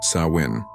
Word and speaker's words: Samhain: They celebrated a festival called Sam Hine, pronounced Sawin.